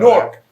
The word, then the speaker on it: Newark: I ain't know Newark. that. I've been saying Newark for the past almost 50 years. They gonna know. They gonna know we from New York. You say that. It's apparently a one-syllable word, and we Yeah, didn't know Newark.